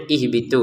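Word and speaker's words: اهبطوا: Kalau orang Arab sudah bisa langsung baca, mereka akan membacanya ihbitu seperti itu ya.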